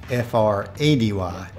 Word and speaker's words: Frady: the 70s Freddy cat I just talked about it's spelled differently my last name being fr-a-d-y and well when your name is Frady people